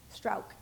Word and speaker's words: Strauch: I think we'll direct this first question to, and, I pronounced it wrong, is it Strauch? Strauch, okay. Very German, how apropos.